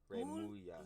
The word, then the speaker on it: Remulla: Remulla.